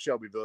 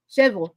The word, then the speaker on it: Shelbyville: spot out here called Shelbyville yes it's not pronounced Shelbyville it's pronounced shille shevel yeah shevel cille Cookville Cookville everything yeah yeah